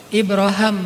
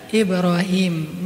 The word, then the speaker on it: Ibrahim: daripada Rasulullah adalah ibraham kalau dalam salah satu qiraat itu bacanya Ibra ibraham makanya orang Inggris nyebutnya Abraham atau bisa juga dibaca Ibrahim nabi ibrahimlah yang mengucapkan